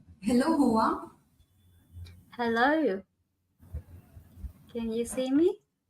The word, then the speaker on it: Hoa: uh let's have a brief int introduction of H okay H pronounced as h means FL in vietnames reflecting